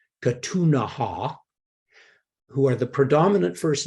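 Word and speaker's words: Ktunaxa: and provided food now the Kootenay who pronounced their native name katunaha who are the predominant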